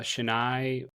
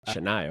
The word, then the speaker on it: Chennai: I understand that you traveled to Chennai, I think is how you say it, for six days for ComicCon India. Yeah. Yeah, we went to Shennai. Shennai.